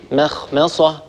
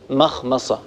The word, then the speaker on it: مخمصة: مخمصة ولا نقول مخمصة، هذا من الأخطاء ننتبه إليه. لما الميم تجاور حرف مستعلي ننتبه لا نترك هذه الميم تتأثر بجارها الحرف المستعلي.